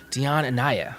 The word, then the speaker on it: Dionne Anyáh: Dionne Anyáh.